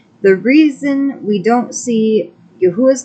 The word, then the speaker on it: Yahuwah: proper transliteration of our father's name as y-a-u-a yahuwah having lived with the Israelites who have been